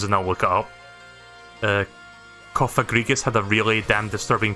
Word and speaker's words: Cofagrigus: It actually tells you how to pronounce it. Cofagrigus. Right, I've been saying that right.